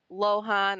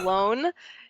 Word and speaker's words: Lohan: Well, to begin with, my last name is not Lohan or Lohan or however you're saying it. It's actually pronounced Lone.